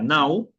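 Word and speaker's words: não: es sin tenemos el el no, en portugués sería now.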